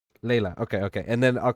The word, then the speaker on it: Laelliana: sorry it's just that it's hard for me Layla Layla okay okay and then I'll call you Zacks